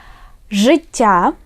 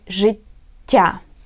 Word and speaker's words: життя: Життя means life. And pay attention, this word, it has two letters T, yeah, double consonant. So we pronounce it життя.